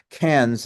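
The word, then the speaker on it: Cairns: fund that acquired the airport in can's at that's the way Australians pronounce it K Australia which is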